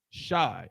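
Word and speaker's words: Shai: Shy, and it was spelled how? S-H-A-I. So you can use it just like that. It's still pronounced shy.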